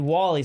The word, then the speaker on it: Wall-E: say w-e Wall-E rnie oh like like actually Wally says I thought she was talking about you